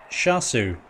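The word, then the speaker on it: Seosamh: with uh two spp it's irish for joseph it's pronounced shasu oh wow i was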